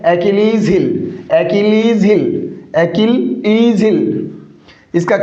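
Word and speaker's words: Achilles heel: क्या है, एचिल्स हिल से क्या, नहीं साथियों, इसका करेक्ट प्रोनाउंसिएशन क्या है साथियों, इसका करेक्ट प्रोनाउंसिएशन है एकिलीज हिल, एकिलीज हिल, एकिलीज हिल, इसका करेक्ट प्रोनाउंसिएशन है।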